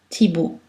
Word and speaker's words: Thibault: La lettre L n'est pas prononcée devant un S, fils, pou, et après la combinaison de voyelles AU, et en fin de mot, Renaud, Thibault.